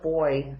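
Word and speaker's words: Boye: These are Boy needles. That's the name brand. It's spelled B-O-Y-E.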